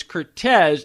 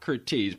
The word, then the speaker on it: Curtiz: If I remember correctly, when we chatted last time, I thought the pronunciation is Cortez and not Curtiz. Well, look, he called himself Cortez because he was born, originally his birth name was Mano Kaminer on Christmas Day, 1886.